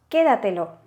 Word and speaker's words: quédatelo: Si lo pronunciamos, el golpe de voz lo tenemos en que, porque decimos quédatelo, ¿vale?